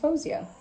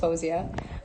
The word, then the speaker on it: Faouzia: is pronounced fawzia um whenever anybody asks me that i say fosia but the thing is my parents like moroccans arabs will call me fouseya or fawziya and so that's how it's pronounced at like home but i kind of